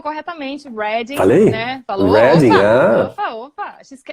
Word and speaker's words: Reading: Se escreve Reading como se a gente estivesse lendo, mas o pessoal aqui, quando está falando em relação à cidade, eles mudam a maneira como falam e falam Reading.